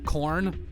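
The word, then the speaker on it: Chorn: is a is a guy named uh corn with uh was spelled like c-h-o-r-n um so uh Clarence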